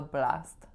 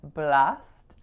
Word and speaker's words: blast: I just know we're gonna have a blast. So, am I saying it correctly or not? Not. So, I'm not tensing my a enough here. So, I'm saying blast, but I should be saying blast, blast.